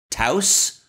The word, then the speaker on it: Taos: in New Mexico, and it's supposed to be pronounced like house, right? So it's a Volkswagen Taos.